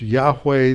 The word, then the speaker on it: Yahweh: name of God means this name that is pronounced Yahweh that's the sacred Tetragrammaton or the sake is